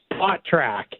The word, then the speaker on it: Spotrac: It's spot track. Yes. So like you're smushing together the word spot and the word track. So Okay. spot track.